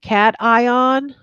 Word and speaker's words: cation: term two terms um I pronounce it cat ion that should be an